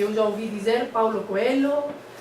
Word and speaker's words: Coelho: N e em Portugal escrevem com NH, mas pronuncia-se igual. E este animal, coelho, conexo não.